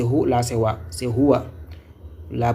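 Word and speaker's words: هُوَ: C'est Huwa. La prononciation c'est en bas ici Huwa.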